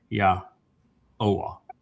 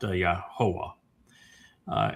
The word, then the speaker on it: Yahuah: So it's yah oh ah not yah ho ah.